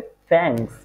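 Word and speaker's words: fängst: এটা হবে এফ আমলাউট এন গে এস টি, হ্যাঁ, তাহলে উচ্চারণটা কি হবে? ফ্যাংস।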